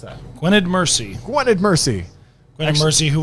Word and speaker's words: Gwynedd Mercy: First heat with Egg Harbor on your right, lane 2, Cathedral Catholic, and lane 4, how do we pronounce that? Gwynedd Mercy.